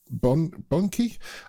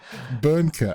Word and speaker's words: Böhnke: Bon bony um uh I'm sorry for butchering that pronunciation um I think I might help you here because I think I think ask your assistant because you're German yeah Burker okay sorry Rob uh they're from Rob Burker um and the first